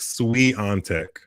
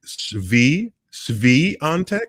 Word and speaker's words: Świątek: Matthew is saying I'm pronouncing Iga's name like Sui Antek. And I promise you, I'm not trying to pronounce it incorrectly, like some people think I am. And he's saying try it like Shvi Antek.